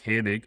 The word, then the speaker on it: Hannig: number four our guest today is uh mike hanig owner of ams construction i guess i didn't ask you about the pronunciation which i normally do is did i